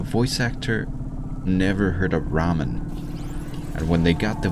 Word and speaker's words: ramen: actor never heard of ramen and when they got the voice lines for this game they never wrote to the person and said hey by the way it's pronounced Ramen that's I don't know